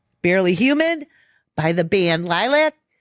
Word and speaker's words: LYLVC: We're going to play Barely Human by the band Lilac. And you spell it LYLVC, Yep, correct? V instead of A, baby.